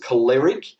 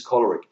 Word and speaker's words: choleric: perfect sorry the powerful choleric uh some people pronounce it calleric apparently the correct pronunciation is choleric um so the choleric is the leader um